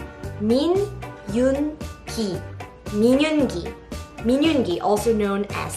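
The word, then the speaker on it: Min Yoongi: Next one is Minyoongi. Min-yoon-gi.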